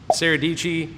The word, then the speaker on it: Saradici: Saradici rhymes with peachy, and this is Justin Romine, rhymes with coal mine.